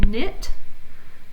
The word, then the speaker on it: knit: So KN, the K is silent as in knit, and the G is silent, GN, as in gnat.